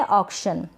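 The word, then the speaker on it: auction: ये है ऑक्शन, क्या है, ऑक्शन, ऑक्शन। ये AU है ना, इसको ऑ पढ़ा जा रहा है।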